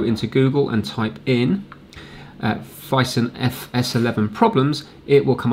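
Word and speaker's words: Phison: I thought it was Filson, it's Fison.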